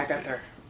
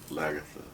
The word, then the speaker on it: Lagertha: Lagather. Lagertha. I can't remember how you pronounced it.